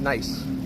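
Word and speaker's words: gneiss: I SS yes oh it's pronounced nice okay if I had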